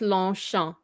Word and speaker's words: Longchamp: Okay, so remember the last consonant? We don't say it. You don't pronounce, right? So it's we don't say that. Yes. Just Longchamp. Longchamp. You don't even pronounce this one. Longchamp. Longchamp. Longchamp. Longchamp. Yes. Longchamp. Yes. No, don't say the P.